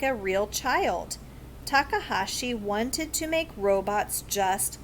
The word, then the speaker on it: Takahashi: Takahashi. Oh, it's just exactly what it looks like.